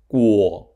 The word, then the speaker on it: 果: The pronunciation of Gua, Guo, can be associated with grow, as in grow fruit.